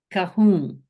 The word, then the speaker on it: kahun: Kya kahu, kya kahun. kahum. Okay, Kahun. that's not an N. Okay. It's not quite an N, it's a swallowed. Oh, It's kahum. almost like you close up the back of your throat.